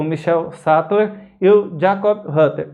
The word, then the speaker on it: Michael: nomes em alemão e o c h i e não é pronunciado igual no inglês que tem o som de que ele tem um som de x igual o português então não é michael em alemão é michel porque o ch é